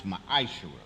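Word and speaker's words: מעשר: numbers 18:21 Malachi 38-10 means 10th in Hebrew and it's pronounce maish a tenth of every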